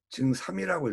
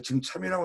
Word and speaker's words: 증삼: 자왈, 사모와 사람 이름을 읽을 때는 증삼이라고 읽어요. 참이라고 잘 안 읽습니다. 이건 관례니까 여러분들 증참이라고 하는 분들도 많은데 증삼이라고 읽으세요.